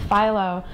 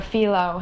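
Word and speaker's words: phyllo: when you work with Pho or felo however you pronounce it we say pho in my family but felo is probably right anyways so you take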